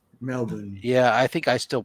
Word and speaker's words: Melbourne: Florida Melbourne Florida no no no Australia I think they say Melbourne Melbourne yeah I think I